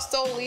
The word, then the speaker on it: Soli: dance so we're gonna do a dance called solely it's spelled s-o-l-i solely is actually a circumcision dance